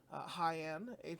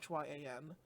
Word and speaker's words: Hyan: Defending the Japan Strong title against I believe it's pronounced Hyan, Hyan, the Booker T trained wrestler from Texas.